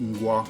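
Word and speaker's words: Mgła: Side, the drummer of Mgwa or MGLA. It's pronounced Mgwa. So he's just a fantastic drummer, and he kind of I love his playing, and it's just an excellent drummer.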